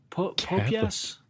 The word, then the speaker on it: Popeyes: Oh, you pronounce it how? I think we call it Popeyes.